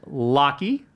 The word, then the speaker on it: Lachie: It is Lackey, pronounced Locky, is a shorter version of Lackland.